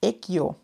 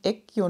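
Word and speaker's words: Aegyo: Und zwar heißt es Eggio. Eggio Knit. Also das Uma Cape ist von Eggio Knit. Schreibt man AE Gustav Y O Knit. Aber es ist koreanisch und wird ausgesprochen Eggio.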